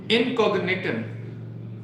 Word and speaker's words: Incogniton: इनकॉग्निटन, spelling note कर लें, हो सकता है मेरी इंग्लिश कमजोर है, मुझे पढ़ना ना है।